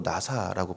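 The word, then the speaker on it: נשא: 내가 업을 것이다라고 선언했대요.이 없다, 품다 이게 원어로 나사라고 발음하는데 연약한 대상을 아래 위로 받쳐들고 거친 길을 지나는 그 모습을 연상하게 만드는 단어입니다.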